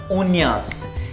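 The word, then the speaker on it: uñas: Nails को बोलते हैं लस उन्यास। ये याद रखिएगा, ये एन्या है, एन्या।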